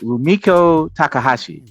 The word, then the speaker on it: Rumiko Takahashi: Rumiko Takahashi, legendary creator.